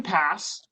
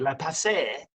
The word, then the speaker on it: Passe: Ryan Passe, I learned how to pronounce it correctly. I think I had been trying to throw a little like French into it, La Passe.